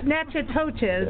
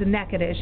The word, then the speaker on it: Natchitoches: is na TCH i toc h es calm natural coaches is what it sounds what it looks like but it's a mecca dish is how it's pronounced though thank you all